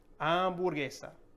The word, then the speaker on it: hamburguesa: Next, for hamburger, how do you pronounce this in Spanish? Hamburguesa. Hamburguesa, not hamburguesa.